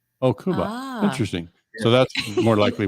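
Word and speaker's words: Kuba: the middle I know the soft name of Jacob in Poland is Cuba oh Cuba interesting so that's more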